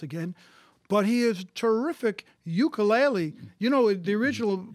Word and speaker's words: ukulele: take souls once again but he is terrific ukulele you know the original pronunciation was uh : ukulele it means jumping fleeing flee yes yes anyway